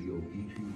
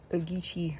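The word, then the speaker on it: Ogeechee: more important than the deep water of the oichi river which if left unprotected could bring un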